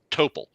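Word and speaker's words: Topol: and everything it just toppled t-o-p-o-l that guy who played it was just his name topo and i'm like or paul i i'm probably pronouncing it wrong no but it is it is topple i'm like okay that's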